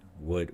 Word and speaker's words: would: Notice that the would, should, we don't really say the the L sound. Would, we don't say would, should, but would, should, we drop the L sound.